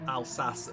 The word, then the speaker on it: Alsace: an action-packed race at al sas village as i've just learned that's how you say it um you've got dr